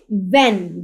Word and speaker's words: when: Often, WHEN, व्हेन, व्हेन जब। ठीक है, सॉरी व्हेन कब। तो W और HEN, यहाँ पे H की साउंड जो है वो प्रोनाउंस नहीं होगी, और ये साइलेंट लेटर कहलाते हैं।